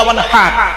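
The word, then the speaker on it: وانحر: হচ্ছে নবী তুমি তোমার রবের জন্য নামাজ পড়ো, ওয়ানহার ওয়ানহার, এই গলার ভেতর থেকে হাইটা উচ্চারণ হবে, হাই ওটি, হাই হাওয়াজ নয়। ফাসাল্লি লিরাব্বিকা ওয়ানহার, এর মানে হচ্ছে নবী তুমি তোমার রবের জন্য নামাজ পড়ো, ওয়ানহার, এবং কুরবানি করো।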